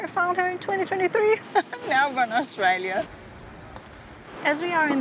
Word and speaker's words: Melbourne: Australians actually don't pronounce the R, so it's more like Melbourne.